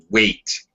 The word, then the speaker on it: weight: And also, Tatiana, weight. Here, it sounds, the word weight sounds exactly like the word wait, if you know what I mean. W-A-I-T, and this word here sound exactly the same pronunciation.